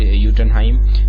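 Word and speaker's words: Jotunheim: फिर है निवेडार जो भी है, फिर यूटनहाइम, ये लिखा तो जोटुनहाइम करके कुछ है, पर इसे प्रोनाउंसिएशन यूटनहाइम करते हैं क्योंकि एसगार्ड वाला जो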